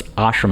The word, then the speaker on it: ashram: So it's ashram, it's the long A.